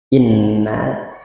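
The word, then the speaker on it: إِنَّ: Innalladzina kafaru inna kalau menurut ulama tajwid berarti wajib ghunah atau nun. Maal ghunah ditahan dulu dua harakat. Jangan 2 jam. Kalau 2 jam kelamaan ya. Dua harakat. Dua ketukan ya.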